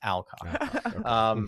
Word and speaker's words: Alcock: I keep giving this like British accent to her name. It's Alcock.